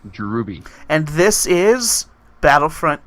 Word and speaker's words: Drewby: It's pronounced Drewby.